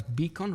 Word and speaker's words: BCAN: I think the mission that BCAN, we pronounce it as Beacon, right, Stephanie?